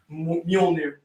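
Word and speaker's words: Mjölnir: How that's pronounced? Mjolnir.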